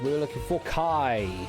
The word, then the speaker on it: chi: We were looking for Kai. It's not Chi but it's not is pronounced Kai.